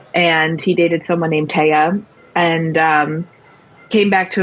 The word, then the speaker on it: Thea: uh but you know it's TAA it's t EA so I get a lot of mispronunciations because people think it's Thea which is fair um I